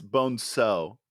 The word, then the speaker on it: Bonzo: by a guy named either bonzo or bone saw i don't know which it's bonso bon so he's uh spanish but the movie can't